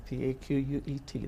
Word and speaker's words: Paquet: Okay, that's P-A-Q-U-E-T. That's the way to pronounce it.